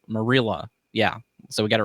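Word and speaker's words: Marilla: Her name is pronounced Merilla. Merilla. Merilla.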